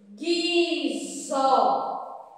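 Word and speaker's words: guizo: Próxima palavrinha, nós temos guiso. Guiso. Guiso. Nós não ouvimos o som do U, senão ia ficar guiso.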